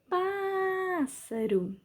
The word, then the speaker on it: pássaro: Pássaro. Sílaba tônica é o pá, som aberto, acento agudo.